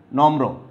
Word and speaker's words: নম্র: পাশে লিখছি, এখানে লিখছে নম্র, ময়ের সাথে রফলা যুক্ত হয়েছে, তাহলে ম কয়বার উচ্চারণ হবে? ম দুইবার উচ্চারণ হবে। ওকে, তাইলে ন ম একবার, তারপরে ম রফলা উকার, নম্র।